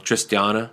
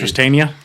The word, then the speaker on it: Tristania: Tristana. You ever listen to them? And Tristania.